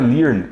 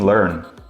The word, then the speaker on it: learn: Não é learn, e sim learn.